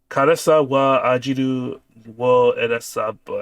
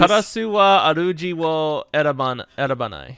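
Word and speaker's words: 烏は主を選ばない: Karasa wa ajiru wo erasabu. I don't know why I'm attempting to even pronounce these. Karasu wa aruji wo erabanai.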